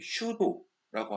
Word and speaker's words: pseudo: 그리고 가상균사에 대해서도 살펴볼 건데, 자, 요런, 하이페 앞에 슈도라고 하는 P가 묵음이 됩니다.